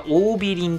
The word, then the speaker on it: 桜美林: と調べますはいこれは桜美林と読むよそうですねカフ